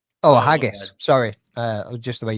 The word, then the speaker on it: Haggis: A Hogy? Oh, a haggus. Sorry. Uh, just the way you pronounced it.